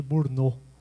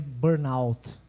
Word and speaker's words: burnout: Eu achei que era síndrome de Burnô, primeira vez que eu li, né? Não sabia que era inglês. Eh, é uma expressão inglês, né? O a pronúncia, eu não sei inglês, mas sei até ali, né? A pronúncia que dizem é burnout, né?